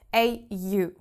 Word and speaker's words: au: Let's start with AU. AU is simply pronounced au. Au. Okay, like when you're hurting yourself. Au.